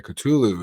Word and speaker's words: Cthulhu: Okay, Cthulhu is how you say it.